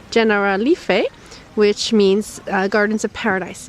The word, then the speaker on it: Generalife: We crossed that bridge, and now we're in the Generalife, which we asked doesn't really mean anything in Spanish, but it's the Spanish pronunciation of an Arabic phrase, Generalife, which means Gardens of Paradise in Arabic.